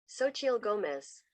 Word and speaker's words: Xochitl Gomez: Xochitl Gomez.